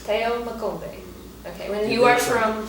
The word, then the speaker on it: Theo Makombe: Your name is Theo Makombe. That's how we say it. How do you say your whole name? That is perfect. Theo Makombe.